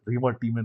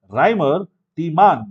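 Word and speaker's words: Reimer–Tiemann: 573 Kelvin lovely okay 5c reman reaction yes Remar Tean reaction actually pronounce as Rhymer T man because they are German so e is pronounce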